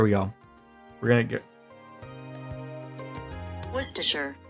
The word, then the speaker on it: Worcestershire: go we're gonna get worcestershire say that again worcestershire so you don't even say like the worst worcestershire